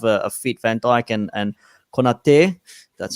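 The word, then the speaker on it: Konaté: And again, if your centre backs can remain fit, or if you can have a fit Van Dijk and Konate, that's how you pronounce his name.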